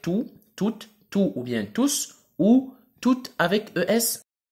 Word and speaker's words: tous: Il s'écrit tout au masculin pluriel, le S s'entend à l'oral. On dit tous.